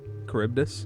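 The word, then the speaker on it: Charybdis: Caribbdis. Corbdus. Caribbdis. Yeah. As well. There's no double pronunciation for that one.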